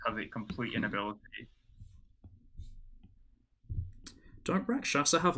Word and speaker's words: Rakshasa: What are they called? Rakshaka? What? Rakshasa.